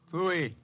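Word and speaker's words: pfui: Fooey. What's that? Fooey. It can be spelled in several ways. I spell it P-F-U-I. Fooey.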